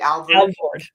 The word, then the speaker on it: Alvord: Okay, let's go back to the office, back to the bank, because he was Minister Alvord. Am I pronouncing his name correctly? Alvord.